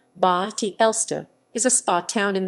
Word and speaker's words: Bad Elster: at elster vad elster german pronunciation ba ti elsta is a spa town